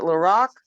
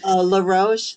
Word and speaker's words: LaRoche: Is it Laroque or LaRoche. LaRoche. The LaRoche.